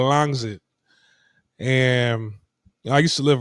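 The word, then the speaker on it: Rangsit: So the north side of Bangkok is is a little town called Rangzit, right? The way Tai pronounced is called Langzit.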